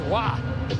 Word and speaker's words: Roy: And then he said, well, in the States they say Roy, but Mom prefers Wah.